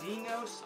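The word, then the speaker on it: Exynos: processor and in the international versions and it's Zeno's that's how you pronounce it 88-90 processor the phone has four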